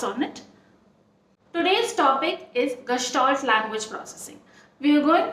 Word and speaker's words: Gestalt: The word Gestalt or Gestalt is a German word which is pronounced as Gestalt.